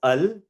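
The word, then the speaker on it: ال: In regards to the pronunciation of al, it's pronounced as al exactly how as I've just pronounced it right now. So alidu. Now in regards to the Hamza from al the Hamza at the beginning it's only pronounced if you start with aljidu. So if I start with aljidu alju then the hamza is pronounced but if I don't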